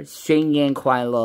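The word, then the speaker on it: 新年快乐: Xing Yan Kuai Lo is how you pronounce it, by the way.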